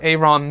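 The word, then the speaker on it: Ayeron: of a vision, Vidar Aaron Mel. So, I'm pretty sure that's how you pronounce the middle name. It's A-Y-E-R-O-N.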